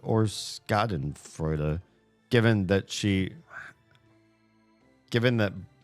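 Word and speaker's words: Schadenfreude: Wait, is it Shotten Frea or Scotten Frea? Given that she given that Bonnie pronounced it with a sca shaden fraud.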